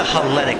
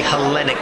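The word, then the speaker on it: Hellenic: and it looks like Escobar here it's the helenic center I know you're not Greek so you don't understand how it's pronounced it is the helenic center it's not Elite it's like the Leaning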